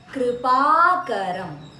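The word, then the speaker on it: कृपाकरं: Shekharam Kripakaram. So here it's a combination of a k and a ra sound. So it sounds like a kr or a kri.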